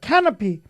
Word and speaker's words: canopy: canopy. A 발음은 R라고 발음하는데 canopy 이렇게 발음해요.